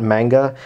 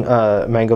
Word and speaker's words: manga: They're larger than the typical volume of manga, or manga, however you prefer to pronounce it. I know it's supposed to be manga.